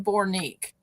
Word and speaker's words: Bornique: His name is, I said Dalton, it's Dayton Bornique. And it's spelt like Jason Bourne, like the movie Bornique.